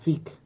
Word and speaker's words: Zeke: Entonces, digamos, al romper con eso, le ha hecho caso a Eren más que a Zeke, porque, o sea, Zik, en esta la pronunciación Zik.